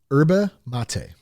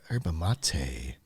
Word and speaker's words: yerba mate: So how's it pronounced? Yerba mate. Yerba. Here's the best part though about Clean Cause. Okay. Mate. This is the final mate. Yerba mate.